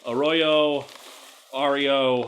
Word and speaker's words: Arroyo: I mispronounced his name last time, and so I don't know what he said the correct way to pronounce it was. Arroyo.